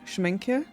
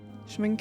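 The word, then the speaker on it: Schmincke: But this is a I think it's pronounced Schmina. Schmina. It's German, I think.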